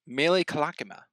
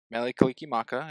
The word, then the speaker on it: Mele Kalikimaka: Next we have Underneath the Tree against Mele Kalakima. I've never heard it pronounced that way. Okay. Say it one more time. Molly Kalikimaka. Yeah. Mele Kalikimaka against Underneath the Tree.